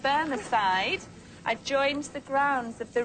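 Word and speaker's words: Bemersyde: family seat, and I'm sorry, I don't know how this is pronounced, Burneside, joined the grounds of the ruined abbey. Oh, so right. that's the Laird of Bermerside, or the fighting Right.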